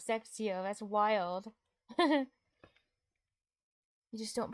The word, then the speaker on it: sextio: I totally forgot that the 20s and 30s are spelled with an O at the end since you don't pronounce it.